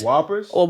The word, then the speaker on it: Whoppers: right next candy um uh how do you pronounce it whoopers Whoppers oh yeah top tier really top ten top